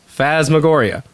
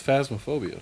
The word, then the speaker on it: phasmophobia: This week, we're talking about Phasmagoria. No, we're not. We're not talking about Phasmagoria? Is that how you say it? Isn't that? No, it's phasmophobia. Phasmophobia. Phasmagoria is something completely different.